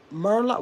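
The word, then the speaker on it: Merlot: It's not Merle. It's um Merlo.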